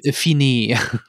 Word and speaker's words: Fiennes: Spricht man Ralph Fiennes hinaus, ja, oder ist das Fiennes. Ralph Fiennes?